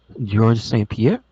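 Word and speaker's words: Georges St-Pierre: B there he is George St Pier as your George bat the bat Truck Yeah I forget the S confuses me you don't pronounce the S he is the leap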